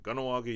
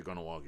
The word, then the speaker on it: Kahnawake: Most people will say Kahnawake. Even I say it real quick, Kahnawake, or I'll pronounce the H. But Kahnawake means by the swamp.